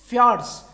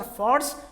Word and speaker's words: fjords: I will tell you the pronunciation of this is fears so it is not George or Fords it is fjords so fjords are the